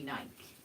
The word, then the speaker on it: Nike: true I mean but that you know Nike pronounces it Nike you have to pronounce it however they say